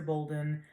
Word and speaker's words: Bolden: class before i'm professor bolden it is spelled funny but it's pronounced just like golden uh so bolden you can also just